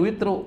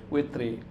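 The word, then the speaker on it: الْوِتْرِ: Nggak boleh fi sholatil witru. Nggak boleh. Fi sholatil witri.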